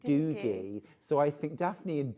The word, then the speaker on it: Doogie: So rather than Douggee they pronounce it Doogie.